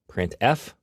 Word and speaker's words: printf: They are pronounced: printf, putchar, and puts.